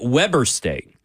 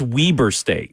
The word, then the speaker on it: Weber State: And I called it Weber State.